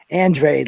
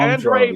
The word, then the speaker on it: Andrade: the whole crew bro andrade let's put if you're going to say his name say it right no no no they call him andre but i mean no